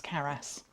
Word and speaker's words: CARAS: Is that the right pronunciation? Yes, CARAS.